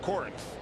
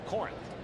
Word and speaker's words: Corinth: I think that you pronounce it Corinth. Okay, thank you. Corinth.